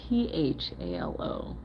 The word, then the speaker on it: Phthalo: Looks like a phthalo green, or however you pronounce it, Aaron. It's Phthalo.